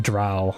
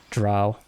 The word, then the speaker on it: drow: a dro or a drowl I keep saying dro the drow is the correct pronunciation I believe so the drow so